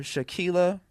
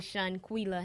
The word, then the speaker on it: Shanquila: We have Shaquila. Did I say it right? Shaquila, because I was about to call you Tequila for some reason. It's actually Shanquila.